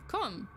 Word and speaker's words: comb: Comb. Isn't it comb? Yeah. Comb! Like C-O-M-B.